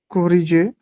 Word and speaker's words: corriger: तोड़ cori के पढ़ो, एंड जी क्या होगा, जे, yes G is इट्स ज, J is ठीक है, ज, J कोरी जे, ER एंडिंग वर्ब्स को हम ए प्रोनाउंस करते हैं, ये हमने पढ़ा था, तो कोरी जे, corriger